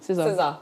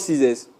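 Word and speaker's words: Sessa: how do you even pronounce the name? Scissor. That's So it. not Caesars. No, it's Caesar. Yeah. No, So not scissors.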